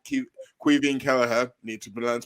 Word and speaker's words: Caoimhin: after that game now jurgen klopp called cu quivian kelleher need to be learned to pronounce his name right queen killer the best